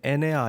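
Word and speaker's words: ἐννέα: 애니어그램이라는 것은 아홉이라는 뜻의 그리스어 애니어, 이 영어로 애니어인데 그 원문을 보면 에네아 이렇게 발음할 수 있겠죠. 에네아, 헬라어로요.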